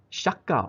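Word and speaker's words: 釈迦: directed the movie called Shaka, and it is shown in the USA 2 years later in 1963 as Buddha. Shaka, of course, is the Japanese pronunciation of Sakya, right?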